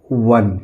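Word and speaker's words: one: ओ एन ई इसको हम पढ़ेंगे वन।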